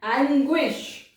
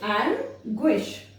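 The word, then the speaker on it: anguish: यदि जी यू I word में आए किसी वर्ड में तो गो प्रोनाउंस होता है। वो कैसे? एंग्विश, एंग्विश। देखो यहाँ पर जी यू आई आया ना, तो एंग्विश, एंग्विश, ये वर्ड आया।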